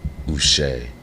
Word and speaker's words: Uche: well go ahead and clear up how to pronounce the 26-year-old's name my name is us there you go and look I know